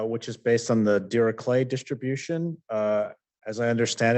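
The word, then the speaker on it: Dirichlet: is based on the de clay distribution uh as I understand it that's the German pronunciation which is the way you're supposed to pronounce this but uh uh uh most people say deay I think but um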